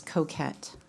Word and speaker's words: Coquyt: Sure, it's Coquette. Spell that for me.